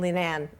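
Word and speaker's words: Leenane: in the lonesome West it's it's back in Lee man am i pronouncing it quite well yes yes and this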